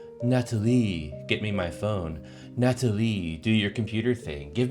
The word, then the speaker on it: Natalie: When Trump calls for her, he doesn't say Natalie. He says Natalie, French pronunciation.